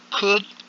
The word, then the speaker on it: could: Okay, could without the L in the pronunciation.